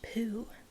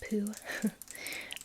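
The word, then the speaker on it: Peau: one is called poo I think it's pronounced poo p-e-a-u French and I think it's pronounced poo um but this one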